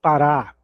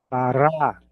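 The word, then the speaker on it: פרה: Pará. Pará. Pará. A pronúncia é exatamente igual o que nós temos aqui no Brasil, o estado do Pará.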